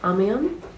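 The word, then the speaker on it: Amiens: amans or you say I'm probably saying that very wrong we'll find out soon so happy we've officially made it to am like that's how you say it I don't think you say the s a little rest reset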